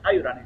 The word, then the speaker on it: Haibrany: la pronunciación correcta de su nombre, Ayurani, sí.